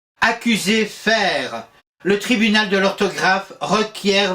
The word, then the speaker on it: faire: à notre fer lorsque le E final deviendra muet notez ma prononciation faire pourquoi mettre un a